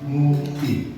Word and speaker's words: Ngupi: YouTube kita namanya Ngaji Ngupi, pakai U ya, Ngupi. Jadi ejaan orang Betawi ya, Ngupi.